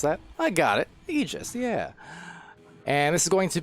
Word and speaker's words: Aegis: We have Beholders facing off against Aegis, and for my own reference, I finally looked up officially how to pronounce that. I got it, Aegis, yeah.